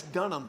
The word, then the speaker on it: Dunham: mispronounced my last name I know it's Dunham not when you look at it it's just don't have use everyone it's Dunham it's just DEFCON ha